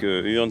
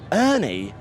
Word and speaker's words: Urne: and I was like, I bet the Italians pronounce it with a bit of like sex appeal. And they were like, Urne. And I was like, Urne? And they were like, Urne. I was like, this disappointed me, Milan. But yeah, the Scandies pronounce it the best.